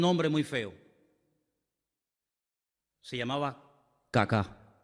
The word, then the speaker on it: Kaká: Se llamaba Kaká. Menos mal que tenía el acento ahí. Si llega a tener el acento en otro lado, peor todavía. Se llamaba Kaká.